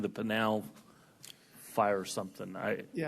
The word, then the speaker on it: Pinal: Because I do have a couple, but I'll give other than the fact that it's pronounced panal, not panol.